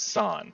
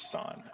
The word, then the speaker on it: San: It's San. I said it wrong initially. It was San.